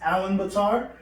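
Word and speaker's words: Ulaanbaatar: where Mongolia is located their capital was actually pronounced Allen Betar there so main source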